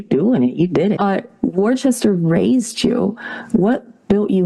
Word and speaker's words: Worcester: How do you pronounce it? Yeah, it's Worcester.